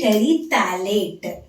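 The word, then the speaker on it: terephthalate: you have to write polyethylene terate pH is silent over there okay okay what are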